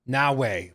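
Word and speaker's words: Naoe: Naue, who comes Naue, like Huawei, but Naue.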